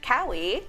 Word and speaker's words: Kaui: And we are here with Kaui. Did I say it right? Yes. Yay! Yeah. She was like, it's like Maui, but with a K.